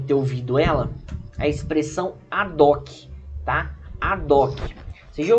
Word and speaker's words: ad hoc: Tem gente que muitas vezes prefere falar ad hoc, né? Mas o certo seria ad hoc, porque o H é mudo, tá? Tanto em latim quanto na língua portuguesa.